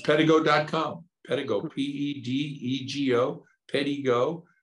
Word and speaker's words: Pedego: Pedego, P-E-D-E-G-O, Pedego. It's pronounced Pedego.